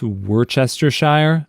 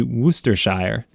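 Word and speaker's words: Worcestershire: with the steak sauce Worchester Shire I think it's actually meant to be wers Shire story 30 I'm an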